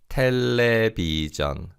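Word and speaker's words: 텔레비전: is a television and this is a long word from english so we say phonetically in korean like this tele bijan telebijan let's say that together repeat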